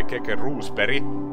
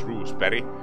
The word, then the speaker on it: Keke Rosberg: two seconds but the unofficial record proven by kk roose perry that's how you pronounce rules perry is one minute ten seconds straight keka did